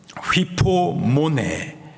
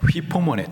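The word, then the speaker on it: ὑπομονή: 헬라식 발음으로 휘포모네. 예. 휘포모네.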